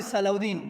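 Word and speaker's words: Salah ad-Din: También otra buena pronunciación. Salaudi, Salaudín, ¿verdad?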